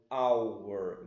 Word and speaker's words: hour: Porque H é uma consoante, só que aqui o H não tem som. Hour, então an hour.